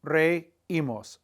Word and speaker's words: reímos: RE and add imos, reímos. But we got to put an accent mark on the I so that so that the EI doesn't form 1 sound, reímos. It maintains the 2 sounds, reímos, reímos.